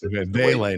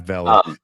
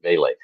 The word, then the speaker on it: Vele: Is it Vele, by the way, is Vele, not Val. Valle. Yeah, but but you um like V A Y L A Y. The Saints sent out a pronunciation. Vele.